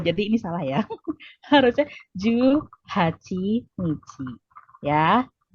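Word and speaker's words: 十八日: Jadi ini bacanya apa? Ada yang tahu? Juhachi, betul. Jadi ini salah ya. Harusnya Juhachi Nichi.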